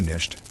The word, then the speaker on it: knight: You hear them speak of a night, and they pronounce the K, a hard K nicht.